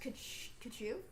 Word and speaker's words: Tkachuk: Yeah, it's Tkachuk is spelled exactly like it sounds, except with a T at the start. Yeah. And just a K at the end. It's pronounced Kachu.